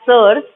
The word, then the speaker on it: seres: SERES, we will pronounce it as SERS because इसको हम सीरीज नहीं प्रोनाउंस करेंगे.